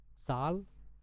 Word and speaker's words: Zahl: Contohnya ini dari sal, sal. Nah, ini bacanya kayak Z itu ganti aja kayak huruf TS. Jadi sal, sal.